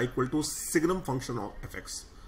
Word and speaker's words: signum: Now one last transformation we will go for, y equal to fx, y equal to signum function of fx.